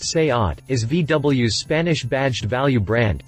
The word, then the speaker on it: SEAT: for a fun comparison seat pronounced say ot is vw's spanish-badged value